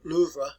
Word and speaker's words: Louvre: The Louvre Museum, or Louvre, is what they pronounce it in Paris.